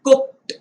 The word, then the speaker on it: cooked: इसका उच्चारण ट से करना है, cooked, looked, ना कि ड लगाकर, cooked, looked, ऐसे उच्चारण उसका नहीं करना है, वह अयोग्य है।